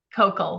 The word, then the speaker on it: Kocol: say your last name Coco like hot coco with an L at the end Coco I love that